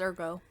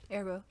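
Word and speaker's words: ergot: so I was like do you drop the T like is it French I think it's Ergo yeah Ergo um it's something that's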